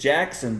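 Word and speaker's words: Jaxon: a tough that is i want to say jackson but it it it's jackson but it's spelled with x yeah and like i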